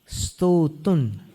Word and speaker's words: स्तोतुं: स्तोतुन अनुस्वार का उच्चारण देखिए, उसमें आगे वाले स में मिलाना है।